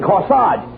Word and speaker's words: corsage: no no you mean corsage age is pronounced odd as in corsage and garage where did you get